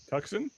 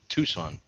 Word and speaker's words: Tucson: know where that is Tucson am I saying am I saying it wrong yeah it's Tucson oh right Tucson you